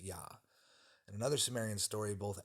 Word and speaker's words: Ea: is the same as e E A which is pronounced yah in another Samarian story